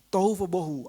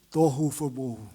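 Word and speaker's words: תהו ובהו: Itu bahasa Ibraninya, tohu vebohu. Artinya, saya nggak tahu apakah apa yang saya sebutkan itu cara pengucapannya benar ya.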